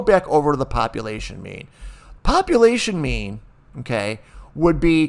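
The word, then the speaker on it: μ: It's mu, mu, but it's pronounced me. Me, or sometimes I'll say mu or mu too, but it's actually pronounced M-E-E, me.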